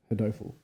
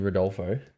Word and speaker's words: Rodolfo: Hodoful. You got Wait, You got I did Bilardo? not say his name right. You did Hodoful. not. I'm picking You mean- Hodoful, Oh God, you mean Rodolfo?